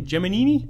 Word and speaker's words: Gemini: best topic was that I've been pronouncing Gemini wrong all this time as have I what was it in the movie jiminy jiminy jomini yeah and repeatedly and yeah regardless of where the person was from in the country they all pronounced it that way I don't believe I've